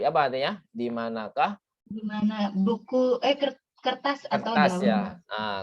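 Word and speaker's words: مَنْ: Jadi bukan min ya, tapi man.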